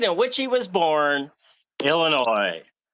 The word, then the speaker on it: Illinois: ois forming the word Illinois, but once again, that S is silent.